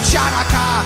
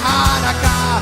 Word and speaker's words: Hanukkah: It's not pronounced Chanukah. The C is silent in Hanukkah.